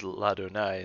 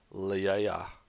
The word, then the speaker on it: Ladonai: I hope you pronounce this as Ladonai instead of Liaya. And actually, I probably should have put that there because these are separate syllables. La. Adonai, Ladonai.